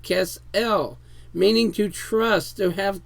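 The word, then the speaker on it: כֶּסֶל: That there is the H3689, the Kesel, pronounced Kesel, meaning to trust, to have confidence.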